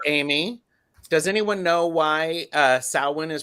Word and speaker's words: Samhain: Because people here in the States, Samhain, it's like, no, it's not Samhain. Yeah. Samhain. Yeah. I think it's the roots. Let me look at. He's got his book out here. I've got my book out. This is, all the wisdom. Samhain, Savain, Savain.